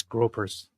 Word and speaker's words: Groypers: What do you do with the Groypers? It's gropers. Say it right. Gropers.